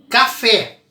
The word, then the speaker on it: café: Eu viro e falo café. Café leva acento? Leva, porque a oxítona terminada em E. Café. Fé é a sílaba mais forte.